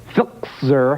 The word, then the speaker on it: Filczer: this country, and this could not make Lou Filczer happier. How do you pronounce that?